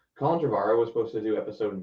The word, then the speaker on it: Colin Trevorrow: could have been amazing colin trevorrow was supposed to i'm pretty sure it's like pronounce his name colin dravara was supposed to do